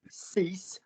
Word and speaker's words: six: before all of you what four numbers do we not pronounce in the way that you think they should be pronounced sank cease weak and deep you do not pronounce those words in full if the next word starts with a consonant saved me five people